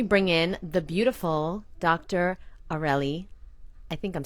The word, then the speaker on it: Areli: hey hi hey okay am I saying it right aureli yes that's correct thank God okay because